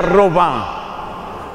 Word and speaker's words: Robin: mística francesa llamada Marta, de apellido Robin, que se pronuncia Robá.